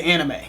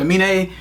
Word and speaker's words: Aminé: So, I really want to say anime. And I'm pretty sure that we're not the only people that want to say anime. Aminé, perhaps. Aminé? We could be pronouncing his name wrong. We don't do all that research. We just go right into the video. So we could be wrong. But we think his name's pronounced Aminé.